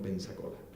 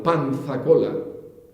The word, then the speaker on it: Pensacola: Es una de las llaves del Golfo de México junto con Pensacola. Y Pensacola, lo digo mal, Panzacola, yo soy canario y no pronuncio las zetas, Panzacola depende de Movila.